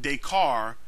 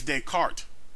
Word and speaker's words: Descartes: mispronounce Rene Descartes name it's not day car is dead cart at around twenty seven